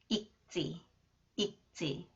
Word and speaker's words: 읽지: And this one, 지읒, when 지읒 follows the final consonant 리을 기역, it is pronounced 그. It is pronounced 쯔, 읽지, 읽지 않은 책이 많다.